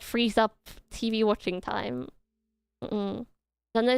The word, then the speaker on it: Janja: Janja is not pronounced with those English J's still. Is it Janja?